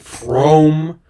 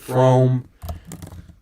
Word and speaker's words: Frome: Oh, we also have Shard and Frome, which is famously pronounced from instead of Frome, but I don't care.